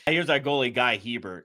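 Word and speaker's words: Guy Hebert: If you remember former, this is quite a while ago, Anaheim Ducks goender G A Bear. Yes. Not French. He he pronounces his name Guy Heert.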